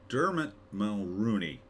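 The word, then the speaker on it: Dermot Mulroney: for ruthless starring dber D Dilbert no dermit M Rooney that's how you say his name uh it's a Revenge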